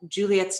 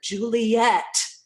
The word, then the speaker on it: Juliet: For example, in the play Romeo and Juliet, Juliet's name is given in the meter of full 3 syllables, I think 5 or 6 times in the play. Most of the time it's given 2 syllables, Juliet, which is actually true to how people speak.